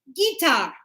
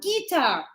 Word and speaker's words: guitar: Now, I hear sometimes students, they say guitar. It's not guitar, it's guitar. Guitar. Guitar. So it's like, do you play the guitar?